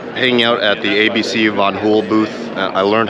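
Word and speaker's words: Van Hool: just finished uh hanging out at the Abc vanon hul Booth I learned how to properly pronounce vanon hul um but I just want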